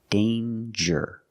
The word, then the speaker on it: danger: danger and anger so with danger we hear the J sound danger there's no nasal sound there's no it's a regular n Dane J with a